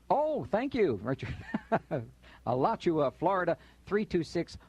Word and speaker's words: Alachua: nineteen twenty oh my goodness how did she pronounce that again Alachua oh thank you Richard allot you a Florida three two six one five and